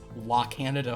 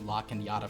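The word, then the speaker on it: La Cañada: it in but the the sort of the squiggly line that turns La Canada Flint Ridge into La canyata Flint Ridge in English is referred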